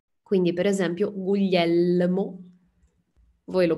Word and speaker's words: Guglielmo: dal portoghese potete separare se voi pensate guglielmo pronunciate come limone quindi è il guglielmo